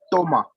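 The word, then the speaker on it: Thomas: Toma. Toma, yes. Toma. The H is not, we just ignore the H.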